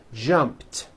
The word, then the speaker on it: jumped: sound at the end jumped of course the word is spelled with an ed ending it's just pronounced as a t jump like that the